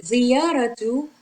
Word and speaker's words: زيارة: Okay, ziyaratu means a visit, and this last letter is ta actually, but this is how we write it when it is final and when it is not linked to the preceding letter, which is ra,